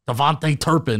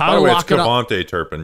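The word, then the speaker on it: KaVontae Turpin: and Jaylen Tolbert or Devonte Turpin it's t kavante Turpin you got that name wrong last week said it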